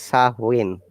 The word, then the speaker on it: Samhain: samhain but amis island souhain it should be pronounced as sa win yes it's a very difficult word gaelic word